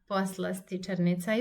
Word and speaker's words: poslastičarnica: If you're struggling to pronounce this word because it's too long, don't hesitate to pronounce one syllable at a time. So you can just read one syllable at a time and pronounce as poslastičarnica. And then you make the whole word poslastičarnica.